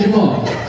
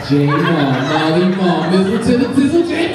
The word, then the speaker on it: Jamal: hey brother what's your name my name is Jamal Jal marle jle everybody got a p daddy remix my name